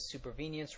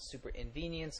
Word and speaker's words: supervenience: as usual first off BP pronounces supervenience wrong he calls it super inv venience and let me explain